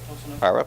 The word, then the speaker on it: Arup: Am I pronouncing that right? Arup, okay, which specializes in the built environment, and